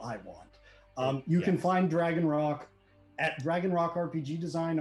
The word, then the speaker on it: Dragon Roc: That's spelled R-O-C, no K. It's like the giant mythical bird, not the piece of stone.